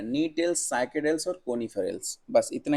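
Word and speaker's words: Gnetales: Orders में बांटा है, नीटेल्स, साइकेडेल्स और कोनिफेरल्स। बस इतना ही बांटा है, ये 3 ऑर्डर में बांटा है। देखिए नीटेल्स ऑर्डर, जो नी क्या है, जी क्या है, इसमें साइलेंट है, नीटेल्स ऑर्डर।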